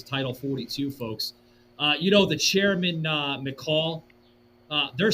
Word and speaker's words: McCaul: Folks, you can go to this website through foreignaffairs.house.gov, okay, where Chairman McCall, that's spelled McCaul, McCall, I think that's how you say his name.